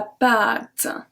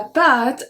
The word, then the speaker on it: pâte: So here you can see la pâte, and then I pronounce the A differently. La pâte à, it's a short A.